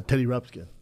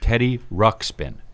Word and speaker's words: Teddy Ruxpin: a kid was uh Teddy rubs again yeah you said it wrong but yeah uh Daddy what do you call it Teddy Ruxpin Ruxpin yeah oh there you